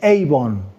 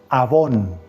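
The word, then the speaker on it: עוון: dice la palabra iniquidad en hebreo se dice Avon avón así se dice la palabra iniquidad en hebreo yo no sé si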